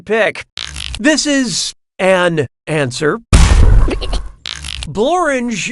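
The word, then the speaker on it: Blorenge: this is an answer bloringe is a real place and it really rhymes with orange but if you visit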